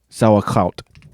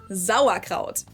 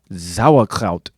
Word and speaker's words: Sauerkraut: often surprised Bratwurst mit Sauerkraut. When they hear that we pronounce the S at the beginning of the word like a Z sound. Sauerkraut. Sauerkraut.